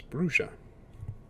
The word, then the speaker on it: Bruges: I have been informed that it is Bruges. Bruges. Well, I've been saying it wrong this whole time.